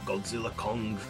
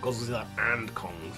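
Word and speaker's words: Godzilla x Kong: when we get um Godzilla Kong the new Empire that's why it's called Godzilla Kong not Godzilla and Kong it's called Godzilla Kong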